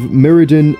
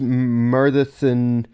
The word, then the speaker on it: Myrddin: So, like, apparently the two D's, according to Luke, the two D's make a TH sound. So th. So Myrddin, as opposed to Myrddin.